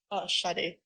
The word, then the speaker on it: Sade: I don't know if this is pronounced Sade or Sadie. Sade.